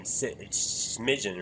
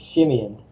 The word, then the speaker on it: Shimeon: then man, honestly, I help me say his name, Smidgen, right? It's Shimeon. Shimeon.